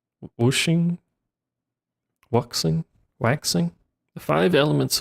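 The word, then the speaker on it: Wuxing: Wooing.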